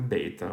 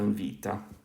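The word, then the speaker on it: βήτα: words later but okay so we have alpha beta or alpha vita i'm probably going to start using the modern greek pronunciation just because i think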